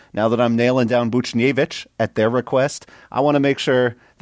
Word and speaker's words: Buchnevich: I have pronounced the H in Buchnevich for the first time,